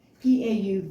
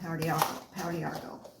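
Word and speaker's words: Pau d'Arco: And it's spelled P-A-U, let me see, P-A-U-D'-A-R-C-O.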